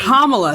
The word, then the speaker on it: Kamala: So it's Kamala.